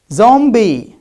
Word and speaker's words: zombie: And you said if we have ba sound preceded by ma sound, then it becomes silent. And now here we pronounce it. What's the story? You forgot part of the story. And I told you, these are not at the end of the word. These are in the middle of the word.